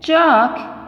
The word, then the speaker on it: chalk: Chalk, L is silent here.